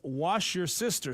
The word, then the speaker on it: Worcestershire: You're not kidding, Cole, about the pronunciation of Worcestershire sauce text messages. Texter says it's wash your sister sauce. I have heard that. And then another texter says it's pronounced Worcestershire sauce. Worcestershire.